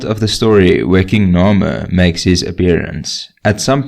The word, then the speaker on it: Narmer: front and center being spelt with a catfish pronounced nor and a copper chisel pronounced mer we also know that